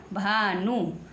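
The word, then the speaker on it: Bhanu: आ जाता है तो बी एच का उच्चारण भय होता है आइए एग्जांपल देकर हम आपको स सिखाते हैं एग्जांपल नंबर वन है आपका बी एच ए एन यू बन गया भानु भानु बी के साथ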